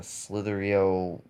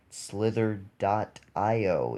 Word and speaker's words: Slither.io: stuff like musically and slithery oh you've been pronouncing that stuff wrong okay slither dot IO it's not slippery o cytherea scene with a